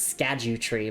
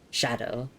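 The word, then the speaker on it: Scadu: Thank you for the pronunciations as well, because I originally thought it was Skadu tree, but no, it's shadow.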